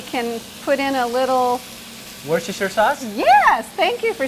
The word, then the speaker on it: Worcestershire: put in a little worcestershire sauce yes thank you for saying how do you say that i say where's the sugar sire style good that's what we